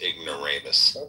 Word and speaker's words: ignoramus: It's ignorous. Okay. Okay. Okay. Okay. You can't even say the word. Yeah, it's pronounced ignoramus.